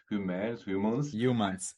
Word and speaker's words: Humaans: Today, I'm joined by Giovanni Luperti, the CEO and founder of Humaans, and it's with double A, so I'm quite confused how to pronounce it. Humans. Humans is perfect.